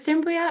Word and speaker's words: Cimbria: Cimbria, is it Cimbria? I don't want to say it wrong the second time. Yeah, it's Cimbria.